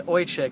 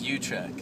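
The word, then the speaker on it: Uychich: And, so Brian Oychik, that's how you pronounce it, right? Oh, actually, it's Uchik.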